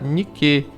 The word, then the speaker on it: Nike: ao lado principalmente na deusa chamada Nike né que se pronuncia como aquela marca de tênis se os irmãos quiserem